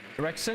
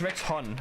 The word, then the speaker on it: Rexon: Rexon, it's Rex-Hun. Rex-Hun. But it's pronounced like Rexon if you say it fast, like Rexon. But it's Rex-Hun, he's Hungarian.